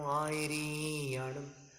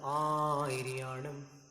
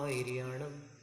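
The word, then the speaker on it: आयरियाणं: री में ह्रस्व है, बस उसका उच्चारण पाठ करते समय गलत हो जाए। नमो आयरियाणम, ऐसा री लंबा ना खींच करके नमो आयरियाणम। आ को लंबा ले लीजिए आप, तो री के लिए आपको सांस ही नहीं बचेगी, तो लंबा कैसे खींचोगे? नमो आयरियाणम, ऐसा शुद्ध उच्चारण हो जाएगा।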